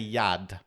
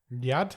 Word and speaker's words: Nyad: I'm going to say Yad Yad I'm going to go with a silent n n y a d